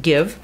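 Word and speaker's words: GXVE: by Gwen Stefani so give spelled g x v e pronounced give is from Gwen Stefani's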